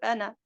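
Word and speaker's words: أنا: Donc, ana, parfois on réalise le alif en cas d'arrêt, mais en cas d'enchaînement, le alif tombe. C'est clair? Donc, je ne prononce que ana. Ana aktharu minka. Ana aktharu minka. Mais si je m'arrête sur ana, je dois réaliser les deux temps de l'allongement.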